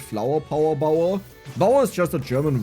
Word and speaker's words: Bauer: But in German it rhymes. Flower Power Bauer.